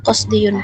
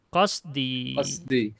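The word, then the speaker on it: قصدي: Qasdiyun. Bukan qasdiyun itu bacanya. Ya-nya itu ya mutakallim. Qasdi.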